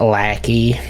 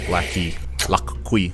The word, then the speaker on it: Liqui: It's pronounced Lackey. Lackey.